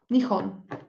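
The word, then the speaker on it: 日本: Y el furigana, acá me dice, esta es la primera sílaba, se pronuncia ni, y estas dos, nihon.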